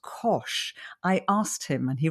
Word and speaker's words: Koch: And the way he said to remember it, it says it rhymes with posh and with dosh. And I thought, that's brilliant. I love that. So I'll never forget now. Kosh Lovely.